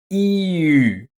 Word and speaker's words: ü: next to it and a reliable method of pronouncing the German U is to start with e first. You then keep your tongue at the exact same position and only round your lips. Ü So, u comes from the back of your mouth and ü from the front.